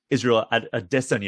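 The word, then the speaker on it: Israel Adesanya: see jorge masada and israel at a destiny apparently is the the correct pronunciation i've been corrected is that right yes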